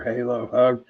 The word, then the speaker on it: Monongahela: And Monongahela? Yeah, Gila or Halo. Okay. Depends on what part of Pittsburgh you're from, the way I look at it.